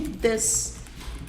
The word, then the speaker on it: this: Tem uma diferençazinha de pronúncia assim, olha só. This e these. Aqui, ó. This e these. Não é uma coisa tão fácil de perceber para quem está começando, mas você acaba pegando também.